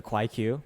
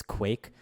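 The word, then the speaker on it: KwaiQ: So it's stylized as if the Q is pronounced as its own letter as its own syllable. That's not true.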